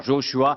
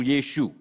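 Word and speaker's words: ישוע: Le nom de Jésus en hébreu peut se prononcer de ces manières, Joshua ou Yeshua, et cela signifie salut ou sauveur.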